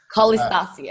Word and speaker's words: Kolistasi: Did I pronounce it right? Or is it a little bit wrong? Kolistasi. Kolistasi, okay.